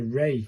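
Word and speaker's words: ら: This is R-A, pronounced like the R-A in Raymond. So it's a ray, innit? It's a ray. This is a ray sound.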